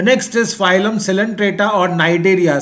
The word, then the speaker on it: Cnidaria: The next is phylum Coelenterata or Cnidaria. C is silent here. Cnidaria.